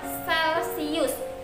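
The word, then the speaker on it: Celsius: suhu itu menggunakan satuan Celcius kalor jenis seperti ini ya tulisannya chalet views Tapi bacanya Celcius jadi oh kalau panas-panas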